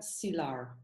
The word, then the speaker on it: Silar: say your name right sila or silar yeah it's silar silar yeah yeah and you